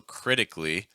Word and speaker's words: critically: So critically, the stress is on the first syllable.